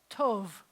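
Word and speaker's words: טוב: word is good and it's a tough with the oh and the vet so it sounds like Tove tal vez how you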